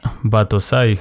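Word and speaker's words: Battousai: me cuesta pronunciarlo aquí se pronuncia como patosay batosai Ajá Bye Y por qué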